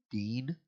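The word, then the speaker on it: דין: It obviously starts with a D. Din. Dean. Dan? Dean. Oh, just Dean?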